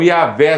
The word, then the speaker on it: Yahvé: Essa primeira letra é Iod, é o som de I. Então, Yahvé seria talvez uma pronúncia melhor.